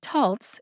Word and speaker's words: Taltz: you probably know this there's a short o like fox a long o like bone a schwa o like bottom and still other types of o's the o in taltz is one of those